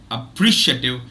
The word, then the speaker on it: appreciative: sorry people a single the letter a can can be pronounced as a diphthong and can take the stress can take the primary stress can attract the primary stress okay appreciative is the correct uh